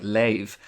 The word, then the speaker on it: leave: in some Dublin accents words like leave le a ve are sometimes pronounced like lave which appears to correspond